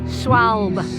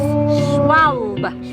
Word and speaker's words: Schwalbe: Schwalbe. Schwalbe. Yeah. Right. Do you have to say it with a German accent? Or? No, it's better with a German accent, Cam. So from now on, it's Schwalbe.